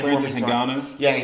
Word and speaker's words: Ngannou: Ngannou? Yeah, Ngannou.